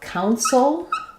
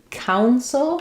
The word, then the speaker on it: council: In counsel, letters OU say the ow diphthong. Cow. Soul. You're going to have a syllabic L there, so it's going to sound like the word cow. Counsel.